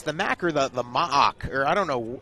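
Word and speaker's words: MAAC: and one are the m-double-ac it's the m-double-ac that's what i refer to what the locals call it that must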